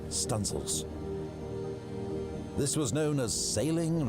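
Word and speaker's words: studding sail: stanel Booms to set studing sails pronounced stanil this was known as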